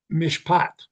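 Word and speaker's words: mishpat: God was looking for the wine of justice pronounced Mishat. But all he really smelled was the stinky juice of oppression, Mishak. So instead of mishpot justice, he gets mishak oppression.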